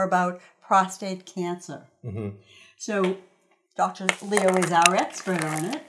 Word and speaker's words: Liou: Louis Liou.